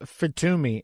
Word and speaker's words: FITUMI: So tell me about FITUMI, and am I saying that right?